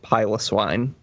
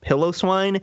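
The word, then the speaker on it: Piloswine: it's Beauty And Glory pile of swine it's not pronounced pillow swine if you say pillow SW because pyos the prefix pyos indicates hairy so if any of you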